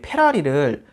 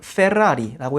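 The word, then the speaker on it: Ferrari: 우리나라 사람들이 왜 페라리를, 사실 페라리라고 하면은 F가 아니라 P로 발음이 돼서 틀린 거예요. 원래는 페라리라고 해야 되는데 그렇게 하는 사람들이 뭐 많지는 않죠.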